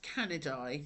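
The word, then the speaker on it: Canidae: This is pronounced canidai. Now, you don't have to remember these, but it's good to kind of understand how it works. Canidi.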